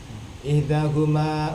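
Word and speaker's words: إحداهما: Punya uzil, hamzahnya ada di bawah alif. Berarti bacanya ihdahuma utawi salah sijini riwayatani,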